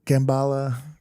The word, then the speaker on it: Kamala: They thought I was saying it wrong when I said Gambala.